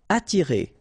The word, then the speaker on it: attirer: Attirer. Okay, don't pronounce the double T. You only pronounce this.